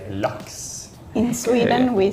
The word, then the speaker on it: laks: Yeah, they say it more like A, and you kind of say it like a U, like looks. How do you say A? Laks. Lax. And we say lax. Yeah. Yeah. It's like ah.